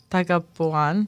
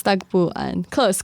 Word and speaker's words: Tagpuan: Or I might go to Tagapuan. It's Tagpuan. Close. It was close.